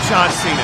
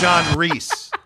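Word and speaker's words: John Rhys: Reese Plumley is not a difficult name to pronounce and his name is John Cena it's not John Cena it's John Reese John how are they getting that wrong we'll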